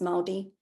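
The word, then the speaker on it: Māori: Zealand so this is maldi or Mari pronounced maldi artwork and this uh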